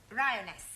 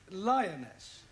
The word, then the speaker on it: lioness: of the following lion rhyoness lioness ryoness you're not saying it right fairly solid i know